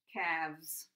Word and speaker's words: calves: spelling also is changed also I'd point out that this l and this l here too is silent so when you listen to the words maybe you'll be able to see that there are some there's a silent letter there okay half halves knife